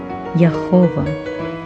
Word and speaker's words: Yahová: A pronúncia correta do nome de Deus é Yahová, ou seja, esta é uma das profecias que serão cumpridas.